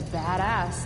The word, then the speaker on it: badass: Is it not meant to be badass? Badass, like the emphasis is on the bad bit.